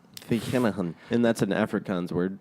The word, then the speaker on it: Vereniging: So, in 1902, the Treaty of Vereniging ends the Second Anglo-Boer War, and then only in, I think it's in the 1960s, we only get independence, man, Okay.